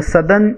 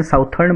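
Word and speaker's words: Southern: World's roughest seize the सदर्न Indian ocean. कुछ बच्चे इसको साउदर्न बोलते हैं, साउथर्न बोलते हैं. This is नॉट साउथर्न, this is सदर्न. This is the correct pronunciation.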